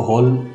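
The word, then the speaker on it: hall: कि शाहरुख सभा भवन उसको कई लोग खोल कहते हैं कि हॉल पहुंचे नहीं करना है उसको हाल प्रकाशित करना है उसका उच्चारण हाल होगा हमने शादी के लिए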